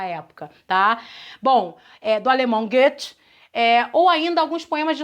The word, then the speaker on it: Goethe: Eu falo Goethe, porque eu acho que a pronúncia é essa, né? Alemão, enfim, a gente nunca sabe direito.